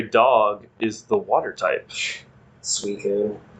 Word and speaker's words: Suicune: Suicune. Suicune?